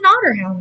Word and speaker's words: Otterhound: OT t t r like the animal Otter Not water a lot of people seem to think water when they hear otter Hound I mean technically otter